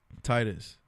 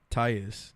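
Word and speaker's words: Tytus: Titus. Titus. Tyus. No extra T.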